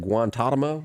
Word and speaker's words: Guantanamo: You pronounce that Guantanamo?